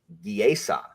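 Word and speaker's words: geasa: And the plural of geas is not geases. It's giesa. It's giesa.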